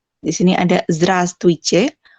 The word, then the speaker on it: Здравствуйте: Di sini ada Здравствуйте, walaupun dia ada huruf W-nya di sini, tapi dibacanya tuh Здравствуйте aja, nggak usah pakai V.